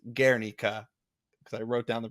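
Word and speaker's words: Guernica: spelled gu ER n i CA but it's pronounced gika because I wrote down the pronunciation ation is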